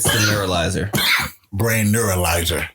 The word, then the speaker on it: neuralizer: Points for the MIB brainalyzer. It's the neuralizer.